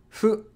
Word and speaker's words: ふ: It's pronounced like a softly blown out version of fu in fool, or sometimes hu in hoop.